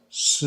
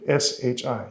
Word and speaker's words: 是: There's a syllable that you would pronounce like shi, like S-H-I, shi. It's used for a positive, like am or yes. It's a positive particle.